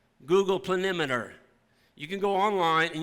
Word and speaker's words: planimeter: Actually, it's a tool called Google Planimeter. You can go online and you can pull up your farm. It's spelled Planemeter. Google Planimeter.